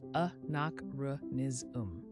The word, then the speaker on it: anachronism: You now know the word anachronism, pronounced uh nak ruh niz um, a noun meaning a thing belonging or appropriate to a period other than that.